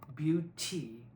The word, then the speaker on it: beauty: presence in this place, we're likely going to take the ty syllable, beauty, and make it a D instead of a T, beauty. So being mindful of that is a T, not a D, please sing a T